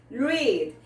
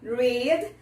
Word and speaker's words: read: No presente tem o som de I, read, e no passado tem o som de E, read, ok?